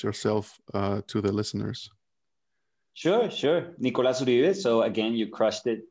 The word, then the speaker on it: Nicolás Uribe: Nicolás Uribe. So again, you crushed it with the pronunciation.